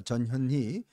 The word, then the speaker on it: 전현희: 지금 전현희, 저 발음 정확히 합니다. 전현희 전 국민권익위원장 바로 일이 이제 윤희숙 지금 후보가 맞붙는 거 아니겠습니까?